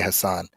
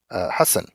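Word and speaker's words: Hasan: I say Hassan. Mhm. That's what he did, Hassan. And then at some point he was like, no, I want people to pronounce it the culturally appropriate way, Hassan.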